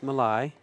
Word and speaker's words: Malaj: McDaniel, Danny Olson, Nick Malai. Malaj. Yeah. Did he say Malai? Is that Yes, pronounced he did. right? Yeah. He's from Greece, and the J sounded like an I.